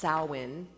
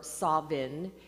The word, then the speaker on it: Samhain: interesting that it's spelled s-a-m-h-a-i-n but it's actually pronounced salwin or Savin and if you saw the little meme I